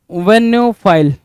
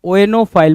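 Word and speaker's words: oenophile: नाउ 15 number वनोफाइल है ना वेनोफाइल या ओएनो फाइल बोल सकते हो। वेनोफाइल बोल सकते हो। ओएनो फाइल वे बोल सकते हो इसको दोनों तरीके से।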